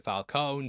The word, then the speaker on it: Falcone: appeared in both but here they changed the pronunciation to Falone so it sounds more like Falcon Falcone is also a